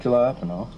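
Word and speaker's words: jalapeño: Ricky, Jay's silent. The J's like an H, Ricky. Jalapeno. Not jalapeno.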